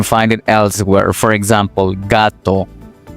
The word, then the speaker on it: gato: For example, gato, gato, o garaje, garaje.